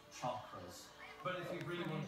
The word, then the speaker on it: chakras: This man is trying to balance his chokers. Actually, it's pronounced chakras.